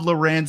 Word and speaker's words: Lourens: And I have joining me today, uh, Rob Rob Loren. Rob, I don't even I've been calling you Rob Loren. Is it Loren or Laurens? Uh Lauren, but you know, either is fine.